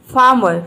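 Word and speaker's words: farmer: फार्मर, फार्मर means होता है किसान। इसमें आप आर को साइलेंट रखें तो ही बेहतर होगा, तो ही आपका प्रोनाउंसिएशन जो है वो बिल्कुल करेक्ट निकलेगा।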